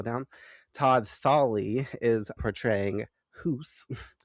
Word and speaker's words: Hus: Todd Thawley is portraying Hoos, which is spelled H-U-S, and I was all doing my notes, and I'm writing down Huss, and then I realized they're saying Hoos on the fucking screen. I'm like, or on the TV, and I'm like, All right, great. Time to go back and edit all that and put HOOSE so I don't mispronounce the whole episode. So, who's not Hus.